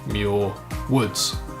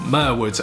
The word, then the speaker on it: Muir Woods: Golden Gate Bridge is a place called muir woods or Myr woods as I continually pronounced it over at